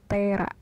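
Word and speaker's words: テーラー: Jadi kalau orang Jepang tuh nggak bisa menyebutkan tailor. Jadi penyebutannya itu disesuaikan dengan bunyinya pelafalan orang Jepang itu tera, tailor.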